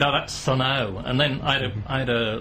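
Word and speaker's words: Sunn O))): I said, oh, that's Sunn O. And then I had a listener ringing and he said, the O is silent.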